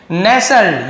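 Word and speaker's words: nestle: एक दूरस्थ गांव में नेसल इसे हम नेस्टल नहीं पढ़ेंगे नेसल पढ़ेंगे टी साइलेंट रहता है ये भी लिख लीजिए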